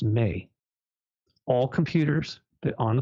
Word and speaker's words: me: the tablets of Destiny it was spelled me pronounced may all computers that on